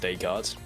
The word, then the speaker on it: Descartes: Pretty sure So it's pronounced Descartes.